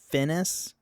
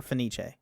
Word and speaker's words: Fenice: the Italian pronunciation, and the English dub has Fenice rhyme with the classical English pronunciation of Venice. Yeah, it's it's Finis is how it's pronounced in English, but it's uh Finis or Finiche.